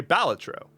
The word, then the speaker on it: Balatro: appreciated I say batro I've heard other people say balatro I didn't know which one was correct so I looked it up the official stance is that there is that every way to pronounce it is correct so say it however you want to say it and yeah pyro exem